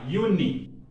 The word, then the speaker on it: Juni: J is pronounced Y, Juni.